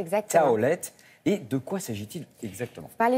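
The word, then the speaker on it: Tawlet: culinaire, alors elle s'appelle Taoulet, c'est ça je prononce correctement ? Taoulet, exactement. Taoulet, et de quoi s'agit-il exactement ?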